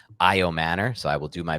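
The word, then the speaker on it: Ayomanor: So shout out Dave Richard who's tuning in right now and he gave me the right pronunciation. It's IO Manor.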